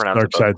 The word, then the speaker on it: Darkseid: It was going to show Darkseid, however you want to pronounce his name. It's Darkseid, sir.